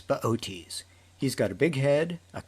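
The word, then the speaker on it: Boötes: the lap of baotis if you saw his name spelled out you'd want to pronounce it booties but it's beauties he's got a big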